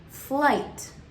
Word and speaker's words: flight: And again, the GH is going to be silent, the I is going to be long, and then we hear the T sound at the end. So that IGHT combination actually says ight. So this word that we have here as an example is flight.